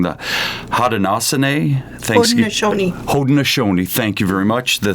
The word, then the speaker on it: Haudenosaunee: At your suggestion, the best way to begin today's discussion is with and correct me if I say it wrong, the Haudenosaunee Haudenosaunee, thank you very much, the Thanksgiving address.